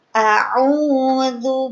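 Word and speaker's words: أعوذ: Jadi tipis, gak boleh a'udzu, zu, kan tebal. Jadi ketika mengucapkannya tebal, itu keliru. Yang betul adalah tipis. A'udzu billahi minasy syaithanir rajim. Seperti itu. Lagi. A'udzu billahi minasy minasyaitonir rajim.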